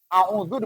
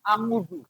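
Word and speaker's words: أعوذ: Yang orang baca itu kalau misalnya baca Al-Quran tanpa tajwid, a'udzu dibacanya angudzu.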